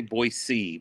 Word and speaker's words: Boise: ever got was in boise idaho and i have to say boy c because they get mad if you don't pronounce the s in the hard way and i go we